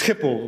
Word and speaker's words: Schiphol: So it's Gelens, in English Gelens, and it's Schiphol, but it's very difficult to pronounce in English, but very good.